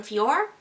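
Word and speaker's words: FOREO: It's supposed to be a mock-off the Lunas, which is from Fior. That's how I pronounce that brand.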